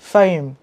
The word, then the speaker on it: fame: các bạn không Đọc cái từ này là fame f i don't want to be famous but